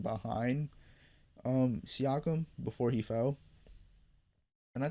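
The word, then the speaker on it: Siakam: I think I said Seakkum last time. I don't know why I pronounced it like that. I I have no idea. I'm pretty sure Seakum. Um, Siakum.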